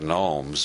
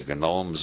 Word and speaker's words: gnomes: the genomes of Zurich everybody else pronounces that gnomes but Harold Wilson believed that G should be pronounced he said the genomes of Zurich these Swiss